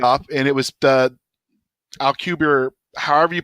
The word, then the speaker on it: Alcubierre: And so he did the math on this theoretical drive, and it's at AL Alpha Lima Charlie Uniform Bravo India Echo Romeo Romeo Echo Alcubierre Drive, I believe is how you pronounce it.